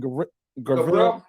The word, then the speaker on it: Gavril: Gavril.